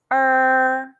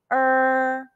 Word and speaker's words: er: pinging the pronunciation is er it's close to the ur in the english word urban but curl the tongue further back say er when you pronounce the